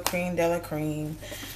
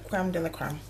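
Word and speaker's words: crème de la crème: So you can get these Cream de la Curl, Cream de la Cream, Creme de la Creme. Yeah, Creme de la Creme.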